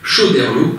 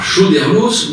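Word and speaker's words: Choderlos: large consensus sur le fait qu'il convient de prononcer Chauderlot avec un S muet et pas Chauderlos ou encore Coderlot.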